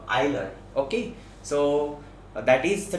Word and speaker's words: Euler: love modified method so many of you might be reading this as euler that is an incorrect pronunciation uh its name is uh isler okay so that is